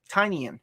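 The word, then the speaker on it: Tynion: your thoughts on tinian's batman run so far tiny in that's how you pronounce it i like it a lot not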